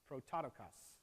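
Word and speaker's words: πρωτότοκος: used to describe him is Pro tanto comes prototokos nailed it which is different from the word Zeo his his own pronunciation this time tis o which means created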